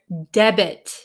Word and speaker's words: debit: In this word debit, the T is pronounced.